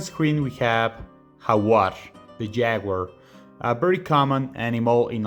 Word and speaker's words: jaguar: lot of spanish-speaking countries so in english you would say jaguar so even though it's spelt exactly the same as in spanish it has a completely different pronunciation in spanish we have hawar and you can really see the difference there and you can hear every letter of the spanish alphabet so it's not a you as in english it's ooh that's why we say ha so it's a completely